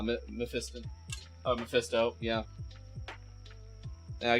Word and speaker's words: Mephiston: Oh, I thought you were just mispronouncing Mephisto on purpose. Nah, Mephiston.